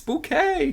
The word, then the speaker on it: Bucket: of the surname there it's not bucket it's bouquet I think that this